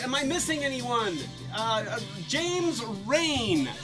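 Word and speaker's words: Rein: I missing anyone James rain am i pronouncing that right rain are EIN okay yeah so okey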